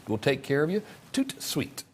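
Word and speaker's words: tout de suite: take care of you toot sweet that's how you say it in french i think okay so here's how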